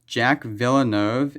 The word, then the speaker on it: Jacques Villeneuve: Its name is pronounced Jack Villeneuve and Lois Siemens.